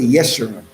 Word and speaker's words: Yeshua: middle name is jesus yeshua means the upright that's in isaiah 44. the mossad says jesus but there's no letter j in the modern hebrew or the ancient evil so we say yeshua that's what my name